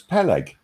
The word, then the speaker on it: Peleg: public no i do it's it's it's peleg pelican yeah like that i mean that's kind